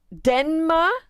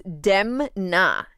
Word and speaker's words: Demna: was the dude's name denma wasn't it denma I want photo what qu qu oh this redit so oh sorry I'm pronouncing it wrong it's demna demna I reverse it demna so this is